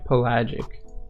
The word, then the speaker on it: pelagic: Okay, pelagic.